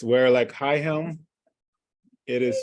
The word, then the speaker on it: Weralak: All right, it's Werelak High Helm. It is spelled Weralak.